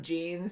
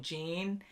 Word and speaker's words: Jean: on the show but with the spelling we just think denim jeans so we were saying gene and he is pronounced